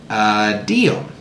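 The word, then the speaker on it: tia'm: It's the moose in Mi'kmaq is called Diom, spelled T-I-A apostrophe M, and but you say it like almost like D-I-U-M, or a lot of people, it kind of sounds like it's Diom, okay?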